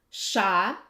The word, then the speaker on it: ша: Ша, sh, sha, sh, sha, sh, sha, sh. It's like in the word borщ, right?